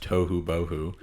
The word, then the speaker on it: Tohubohu: owner of toou coffee it is pronounced too bohoo one word um everyone messes that up but it's funny because